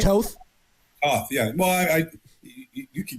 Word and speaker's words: Toth: Did I pronounce his name right? Toth?